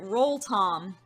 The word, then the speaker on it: Rotom: That maybe I would have the one and only Absol, who answered the question today about Rotom, or Rotom, that they pronounced it Roll-Tom, which is cute, I like it.